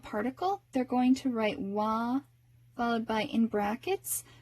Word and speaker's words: は: other than its name ha is one of the cases in which you pronounce it differently from its name sometimes our impulse is to read it as ha and you should learn it as ha but you also need to learn that in one particular case you're going to pronounce this as well and it's when you're using wah to mark your topic of conversation as in